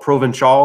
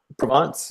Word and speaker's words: Provence: heard of, like, I don't think I can pronounce this word at all, but it's a place in France. It's called Provençal or something like that. It's like an area or a region. Provence, yeah.